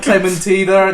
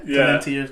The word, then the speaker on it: Clementi's: It was like Clementina. No, there's not an N in it. So, Clementi's curfew.